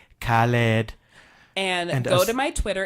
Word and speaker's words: Khaled: podcast we posted because I couldn't pronounce DJ Khaled. Khaled. It's how you say DJ it. Khaled. We the best. We the best, DJ. Yeah. So there you have it, folks. I pronounced it correctly. Khaled.